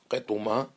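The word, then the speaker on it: קטומה: So this one level is gufa, the other one is ktuma. Ktuma with kuf and tet, ketuma in the correct pronunciation.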